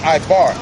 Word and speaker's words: Eber: facts that and on Ebert the name Eber in uh in uh he in Hebrews pronounced ibar the word Eber means